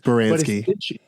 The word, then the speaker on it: Baranski: So you have Viola Davis, Gina Torres, and Christine, I'm gonna get her name wrong, Baranski, I think that's what it is. Baranski.